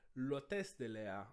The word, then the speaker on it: l'hôtesse de l'air: um pouquinho da pronúncia, a gente usa o L com apóstrofo justamente porque o H, nesse caso, tem um som mudo, ele é mudo. Então, para fonética, a gente considera que a palavra começa com O, pelo menos em termos fonéticos.